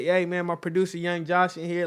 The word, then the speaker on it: YNG Josh: okay first of all what is yng Josh actually stays just abbreviation for young you know young Josh so I've been saying